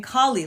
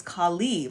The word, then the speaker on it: Khali: I think I was saying Kali like the Hindu goddess but I think it's Khali right to give the more of the emphasis on the Lee